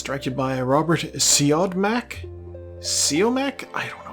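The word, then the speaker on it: Siodmak: Uh it's directed by Robert Seodmak. Seome. I don't know how to pronounce this. Number one, his name is pronounced Seadmack.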